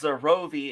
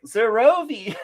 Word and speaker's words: Xer0VI: Yes, I am or pronounced Zerovi if her name is Kelsey Dion as she's the only one in that.